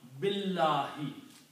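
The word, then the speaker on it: بِاللَّهِ: Okay, so that's the reason we combine this B with lam. Billahi.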